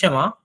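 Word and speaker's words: 什么: দেখেন এইখানে উচ্চারণটা আছে কিন্তু সেনমা, কিন্তু চাইনিজরা প্রফেশনাল হইতে যখন এটা উচ্চারণ করবে আপনাকে সেনমা এভাবে বলবে না, আপনাকে এত দ্রুত বলবে সেনমাটা বুঝতে পারবে না, ওরা বলে মনে হবে সেমা। ওরা কিন্তু এই এনটা অনেক সময় সাইলেন্ট করে দেয়, সেমা এভাবে বলে দেয়।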